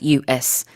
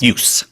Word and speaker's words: use: And when you use the noun form of the word use, you say use. Use.